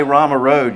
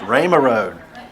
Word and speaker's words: Rama Road: If you say Rama Road, you're not a native Charlottean, right? It's Rama Road.